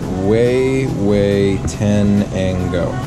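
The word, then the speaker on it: Huehuetenango: Pronounced way, way tenango.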